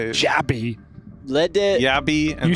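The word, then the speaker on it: jabbi: Yeah, I like to do that as well because J isn't pronounced in a lot of languages. Like it's pronounced with a Y, you know, in a lot of languages.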